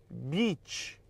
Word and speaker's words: beach: caso aqui literalmente o e tem som de i e o i tem som de e logo praia é som de i beach beach beach on já o cadela